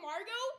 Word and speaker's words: Margot: Yes, I know how to spell Margot. That's my name. The T is silent. It's French.